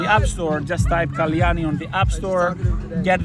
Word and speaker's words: Kalyani: your practitioner was so the app's name is Kalani and it's a Sanskrit word it means okay how to spell it uh k a l y a n i it's right here uh and it's ci.